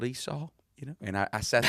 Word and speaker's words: Esau: was on Jacob and Eshua, because I didn't know how to pronounce Esau. And I did the whole Sunday school lesson on Eshua, and people were snickering